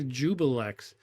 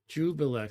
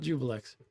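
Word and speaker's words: Juiblex: correctly and they say jubillex. Jubilee. I've spoken to people who say that. No. No. I don't know if you say Jubillex or Jubilee, but it's not Jubilee. Jubilee. Jubil. Not Jubillex.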